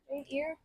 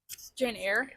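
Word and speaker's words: Jane Eyre: of Dorian Gray Jane how do you pronounce Jane ear Jane air Jane Jane air to this we went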